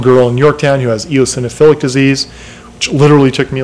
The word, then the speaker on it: eosinophilic: there's a little girl in Yorktown who has eosinophilic disease which literally took me like two years to to pronounce uh it's eosinophilic and she basically cute little girl tough little